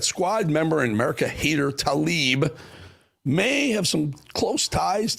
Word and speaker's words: Tlaib: But Rashida Tlaib, let me say it right, Rashida Tlaib may have taken, you'll understand why I said